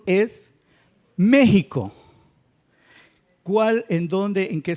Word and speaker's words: México: dru hula porque porque el acento o la sílaba fuerte es el antepenúltimo y todas las palabras